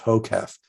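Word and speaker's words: HOKEF: class it's a it's an acronym which is pronounced hocaf h-o-k-e-f which stands for hands-off keyboard eyes front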